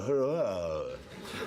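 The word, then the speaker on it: Huayra: It's called the Hurrah. It is. It's spelt H-U-A-Y-R-A.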